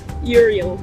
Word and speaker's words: Uriel: Uriel. Uriel. Yeah. Okay, that's very interesting. How do you spell that? U-R-I-E-L.